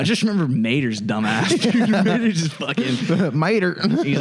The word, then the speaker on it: Mater: Dude, Mater just fucking. Mater. He's like, yeah, howdy. Mater rhymes with tomato.